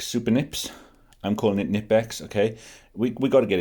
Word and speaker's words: Knipex: I'm calling it Nipex, okay? We got to get into it, haven't we? Knipex, Nipex. You know, the correct pronunciation is Knipex, as the Germans say, okay?